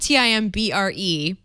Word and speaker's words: timbre: so the app I brought today is called Timbre I believe it's spelled TI m BR e that's the musical form of timbre thank you